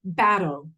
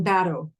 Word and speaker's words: bateau: bottom boat that Bella battle we call it you could spell it bateau but we call them battle a gullible thus a